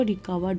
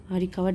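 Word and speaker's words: recovered: हो गई, यानी कि रिकवर्ड यानी कि ठीक हो गई, गंभीर रूप से बीमार थी तो वो ठीक हो गई। अब देखिए यहाँ पे वी आर साइलेंट आपको दिखेगा, इसे रिकवर्ड पढ़ेंगे, रिकवर्ड एंड स्टार्टेड प्रोड्यूसिंग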